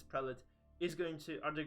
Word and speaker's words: prelate: now the prelates or the so-called pre-lattes as some people like to call them or prelates obviously the only proper pronunciation is prelit is going to are